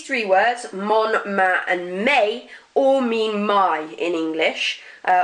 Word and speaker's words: mes: Mon, ma, and may. Notice that S, I'm not pronouncing it.